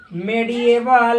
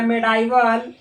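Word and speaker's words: medieval: Development of mathematics in ancient and मेडिएवल या मेडाइवल India. इसका आप लोग प्रोनाउंसिएशन जिस तरह से करते हैं वैसे कीजिएगा। मेडिएवल बोलिएगा, मेडाइवल बोलिएगा, कोई दिक्कत वाली बात नहीं है।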